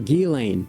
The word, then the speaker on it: Ghislaine: If you don't know what I'm talking about, Jizlane Maxwell or Gilain Maxwell, that's the pronunciation of it, is seeking a pardon from Donald Trump.